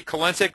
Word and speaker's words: Kensic: If we come on all the way down here to the bottom, you see my name, Kensic, phonetically sick.